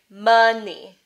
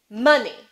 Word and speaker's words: money: So two syllables, right? Money. Which one's the stressed syllable? Money. Money. It's the first one.